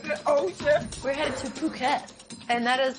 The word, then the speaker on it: Phuket: But, you know, it's not pronounced myself where it's actually Phuket.